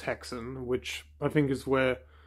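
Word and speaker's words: Häxan: From what I could find, it's pronounced Hexen, which I think is where the term witch's hex comes from.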